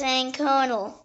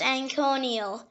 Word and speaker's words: anconal: The next word is anconal. It can also pronounce anconial.